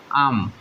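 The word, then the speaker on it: I'm: এটার উচ্চারণ হবে আম।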